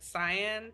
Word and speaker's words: cyan: like, yeah, like Me personally as well, I always move my blacks to a more like cyan type. That's how you pronounce it, right? Cyan.